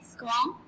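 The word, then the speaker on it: squirm: इसका are silent है. स्क्वाम गुजर सकना.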